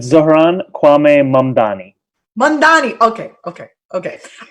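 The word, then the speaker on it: Mamdani: you so much for having me Zoran Kwame mangani did I get that one right almost almost how do we pronounce it so it's Ron Kwame mom Donny man Donny okay okay okay so Ron you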